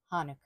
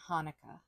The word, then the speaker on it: Hanukkah: if you have a difficulty with pronouncing that CH sound you can um just imagine it as an H hanuka little bit different than Hanukah Hanukah feel like that u in the middle is a little bit different in Hebrew than how Americans normally say Hanukah hanuka hanuka so